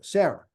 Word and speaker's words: Sarah: and it also says at the end of a word the ha the H is not pronounced which is the same in Hebrew in English rather so like the word like your name Sarah right H you know I've seen it with s a r a and s a r a h pronounced the the same yeah so that's that's